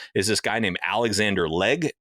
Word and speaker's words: Legge: this guy named Alexander Legge. I think it's how you pronounce it. It's Legge.